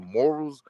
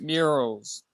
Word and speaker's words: murals: Especially if you study Russian the morals, what's the word called morals? You know when you put pictures on the wall or whatever, Yeah. morals, how you say it? Yeah, Oh, it's in Russia. It's murals.